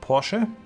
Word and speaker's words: Porsche: government we do have Porsche um or Porsche uh if you want to pronounce it correctly as our tank design